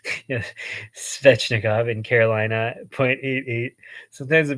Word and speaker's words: Svechnikov: skin one goal per game seven goals uh spitznikov spetsnikov yeah svechnikov in Carolina 0.88 sometimes the pronunciations just don't come out right huh um